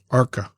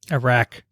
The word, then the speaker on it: arak: Some sources state that this dish is traditionally served with arka. Arak.